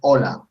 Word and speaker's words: hola: is when you say hola you have to pronounce the h sound just hola hola it's not it's no lag in English you say hello okay hola the the egg